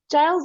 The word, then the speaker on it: Giles: Giles is the English version. Gilles is how you would say it in French.